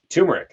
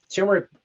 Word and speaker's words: turmeric: Turmeric, that pronunciation evades me. I hear it said both ways. Tomato, same kind of idea here. But turmeric, when you cook it